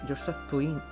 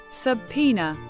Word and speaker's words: subpoena: You tried to run away from the bailiff who was trying to hand you your subpoena? How do you... Subpoena.